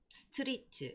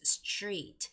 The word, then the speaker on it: street: When you're also making the sound for that word, it's not street, it's street, street.